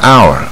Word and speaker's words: hour: Then hour 啊，这很多啊，H 开